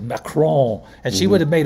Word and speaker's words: Macron: if it's spelled m-a-c-r-o-n this n is never pronounced it's necro and you